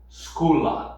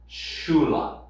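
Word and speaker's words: sculan: verb here Shula and you're probably very tempted to pronounce this schoa scha the pronunciation here is shulan shulan suppose that instead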